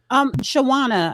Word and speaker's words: Shawana: Shawana, I said it right? Yes.